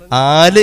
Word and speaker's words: ആല്: കുടുംബം ആല് എന്ന് പറഞ്ഞാൽ ആല് എന്നതിന്റെ അടിസ്ഥാന രൂപം അഹല് എന്നാണ് ആല് എന്നതിന്റെ അടിസ്ഥാനരൂപം അഹല് എന്നതാണ് ഉച്ചാരണത്തിൽ ആല് ആയതാണ് ഇബ്രാഹിം നബിയുടെ ആല് പറഞ്ഞു